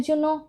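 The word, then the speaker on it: Zinnia: এখানে আমাদের জন্য জিনিয়া এই জিনিয়া কেও ইংরেজিতে জিনিয়ায় ডাকা হয় জ্যাট দিয়ে শুরু হয় এজন্য প্রোনাউন্সিয়েশনটা আমরা জিনিয়া এভাবে করে থাকি বাংলায় জিনিয়া তো লিখে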